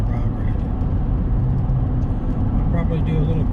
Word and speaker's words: Rio Grande: will tell you that Rio Grande is spelled Rio Grande, but here we call it Rio Grande.